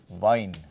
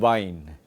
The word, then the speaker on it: Wein: So weiblich, and this you can make a note of as a standard pronunciation. This is called a diphthong. Okay, this is called a diphthong, a combination of two vowels, and there are other